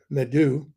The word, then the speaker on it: medu: Now, I said, in the first place, the etymology of the word medu, pronounced M-E-D-E-W, medu, speech, means, and this is the key point, staff or cane, C-A-N-E, of authority.